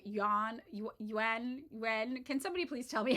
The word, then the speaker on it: Yuan: I always say this wrong. I just say yen and it's wrong. Yuan.